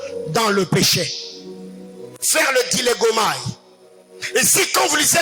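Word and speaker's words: διαλέγομαι: Sixième chose, il faut apprendre à faire ce que j'appelle le dilégomai. Dis à ton voisin dilégomai. Dis à ton voisin dilégomai. Dilégomai s'écrit comme ça se dit, c'est en grec.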